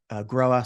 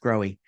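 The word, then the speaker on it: Grohe: And, you might recognize us from our major brands in the Americas, American Standard, Groa, sometimes pronounced Growy incorrectly, and DXV, and our tile brand called Enax.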